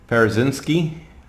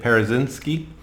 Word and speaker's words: Parazynski: his name is Scott Parazynski it's how you say it Parazynski and he is underneath